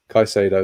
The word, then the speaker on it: Caicedo: we will bring in the Ecuadorian youngster Moises Caicedo, I believe he's pronounced. You can correct me on that, Simon. I can't imagine I've got it spot on. Moises Caicedo. Caicedo, there we go.